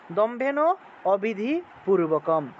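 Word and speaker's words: দম্ভেনাবিধিপূর্বকম্: দম্ভেন অবিধি একসাথে উচ্চারণটা দম্ভেন অবিধিপূর্বকম এই শব্দ এই তিনটা শব্দকে একসাথে উচ্চারণ করতে হবে দম্ভেন অবিধিপূর্বকম এভাবে অহংকার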